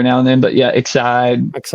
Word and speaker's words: Excide: Excide. Excide.